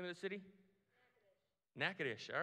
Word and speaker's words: Natchitoches: Natchitoches. All right, cool. I would have butchered that really bad.